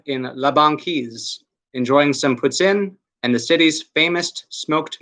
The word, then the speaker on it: poutine: up in La Banquise, enjoying some poutine, or poutine, I guess more people pronounce it that way here, and the city's famous smoked meat.